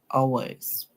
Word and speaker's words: hours: In hours, the H is silent, so we do not hear the song for the H.